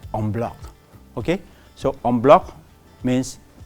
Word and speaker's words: en bloc: I'm saying no, this is French, so it should be pronounced as en bloc, and which quite rightfully many people pronounce it correctly.